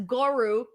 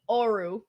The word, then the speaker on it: Oro: oh okay see okay Dante says goru without the G Oru Oru Oru Oru okay